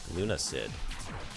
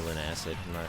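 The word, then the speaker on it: Lunacid: as a morning game Luna Sid hey I finally look at me pronouncing it right I still I want to say lun acid I'm not going to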